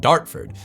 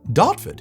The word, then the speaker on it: Dartford: Naturally, I'm just going to soften it a bit, especially because I've never once heard the R pronounced amongst anyone around me because it's not pronounced. The name of the place is Dotford.